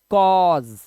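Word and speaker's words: cause: इसी तरह से कॉज, इसी तरह से क्या था, ये डॉटर है, ये कॉज है, देखो कॉज। तो ए यू का उच्चारण क्या है, ओ का उच्चारण है।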